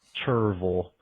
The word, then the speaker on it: Cherryville: But my favorite one is down here in the Charlotte area or surrounding areas is Cherryville, as all the natives say, Cherryville.